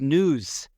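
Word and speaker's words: nous: they called it the news or the news it's it's spelled a couple different ways n or n u but it's it's pronunciate as news almost sounds like dudes right y or what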